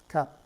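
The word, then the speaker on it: 값: The word for price, which is pronounced cap, cap. But notice that for some reason we're forced to put an S sound, a shiot, at the end, even though we don't hear it pronounced.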